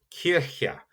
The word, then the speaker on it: Kirche: And this is Kirche. And that's a little bit tough to pronounce, but you will hear it Kirche.